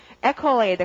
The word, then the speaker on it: accolade: 발음은요. accolade, 강세가 앞이고요.